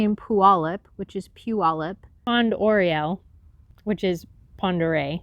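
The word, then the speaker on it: Puyallup: native so we'll say in pualip which is pu olip fond oreo which is pandarei coeur de lin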